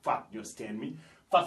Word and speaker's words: fat: nous avons fat et on prononce toujours la dernière lettre en anglais on dit pas fa B fat fat ça veut dire gros